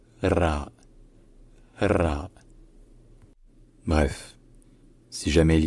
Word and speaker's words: ر: peu comme it Piaf mais la prononciation majoritaire la plus courante la plus classique la plus littéraire ça reste de loin R et donc la lettre s'appelle RA bref si jamais il